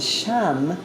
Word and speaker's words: Sham: It's a high pitch as you visualize the indigo and Sham, S-H-A-M, is the one syllable Sanskrit mantra.